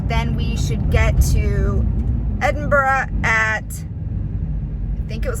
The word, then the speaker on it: Edinburgh: You just say Edinburgh.